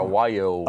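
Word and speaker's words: Wallior: A lot of people don't know how to spell that, but it's W-A-L-L-I-O-R, Wyo.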